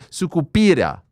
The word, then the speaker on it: Sucupira: AM I PRONOUNCING YOUR NAME CORRECTLY ? ? ? SUCUPIRA. YES. YES. YES. OKAY. SUKU SUCUPIRA.